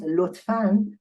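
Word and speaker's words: لطفاً: In fact, you don't see a nun here. There is not a notion of a nun here, but there is a pronunciation of nun here. It means lutfan will be pronounced word by word like that. Lutfan. That is the pronunciation, not the way we write.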